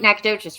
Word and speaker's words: Nacogdoches: That was Lake Nacogdoches, right?